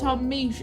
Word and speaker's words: Misch: cover of South of the Jews by both Tom Misch and Lizzo.